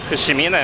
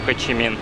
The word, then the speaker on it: Хошимин: А это музей Хошимина. Ладно, буду называть его Хошимином, так как он на русский переводится как Хошимин, на английском Хочимин, и на вьетнамском также пишется.